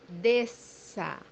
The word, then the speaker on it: Desça: as you see here in the word, the digraph SS is pronounced as S.